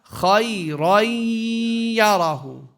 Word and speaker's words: خَيْرًا يَرَهُ: How do we do the merging here? We drop a fatha, so it becomes what? Khayra. Now merge it with the ya. Khayran yarahu. And we give it a what? Nasalization. We give it a ghunna.